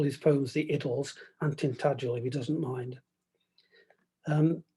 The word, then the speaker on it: Tintagel: in total aren't that he also liked to pronounce the tintagel with a hard g as tin taggle but i'll continue to call his poems the idols and tintagel if he doesn't mind